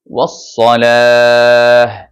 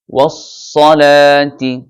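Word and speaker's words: وَالصَّلَاة: ইয়া আইয়ুহাল্লাযীনা আমানুস্তাঈনু বিস-সাবরি ওয়াস-সালাতি। মিলিয়ে পড়লে ওয়াস-সালাতি, আর থামলে হবে ওয়াস-সালাহ।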